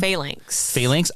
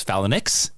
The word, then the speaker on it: Phalanx: and years and years, how do you say the X-Men villain? Phalanx. I, for years, thought it was Phalanx, and that's it.